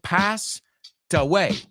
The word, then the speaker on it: passed away: Fíjate cómo lo pronuncio. Passed away. La T va con away.